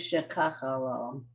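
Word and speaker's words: שככה לו: The emphasis, you see what that little line is? So the Yeah. emphasis is shekachalo.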